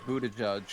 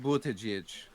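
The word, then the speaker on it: Buttigieg: have any light yeah it's pronounced more like bootage or something like that right is it down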